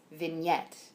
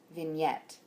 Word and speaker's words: vignette: is the word vignette the stress is on the second syllable you were saying vignette but it's vignette vignette um and then in